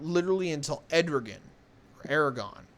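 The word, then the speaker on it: Erdoğan: not literally until edward aragon depending on however you want to pronounce his name i apologize um uh air to one i believe is actually the technical pronunciation of it but anyway the ruler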